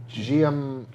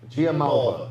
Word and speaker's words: Giammalva: It's spelled GM GIAMM. Malva. GIAMMALVA. Patrick G. Patrick Giamalva. Giamalva. Patrick Giamalva is the Say challenger.